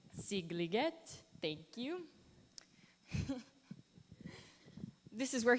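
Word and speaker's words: Szigliget: I cannot pronounce the title, but the setting of the work is his summer home in this town pronounced Székliget. Sigliget, thank you.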